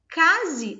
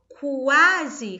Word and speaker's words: quase: Então, quando eu falo quase, claro que eu falo rápido, quase, né? Nós falamos rápido. Mas ao pronunciarmos esse quase, o som do U, ele está sendo pronunciado.